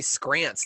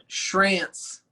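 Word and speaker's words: Schrantz: It's Shrance. What? It's not like school. I tried to sound out Paul's, but sounding out your name was a mistake. Yeah, The C is silent. Scrants. Shrance. Like schedule. Shrants.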